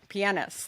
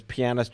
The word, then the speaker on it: pianist: Compositional pianist. Thank you. Did I say that correctly? I mean, a film composer, but there's always a running gag with you, whether it's pianist or pianist.